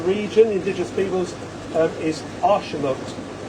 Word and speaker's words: axolotl: the indigenous peoples, is Arshamot. So that's actually pronounced. you would think there's an S in there, wouldn't you? Yeah, Arshamot.